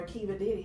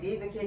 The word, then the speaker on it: Diva Kiddie: for your storefront or just in general for Ka Diddy? Like I'm saying that name wrong. It's okay. Diva Kitty.